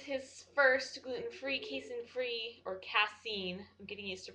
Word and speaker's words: casein: and today is his first gluten-free casein-free or cassine i'm getting used to pronouncing it right day and it's going okay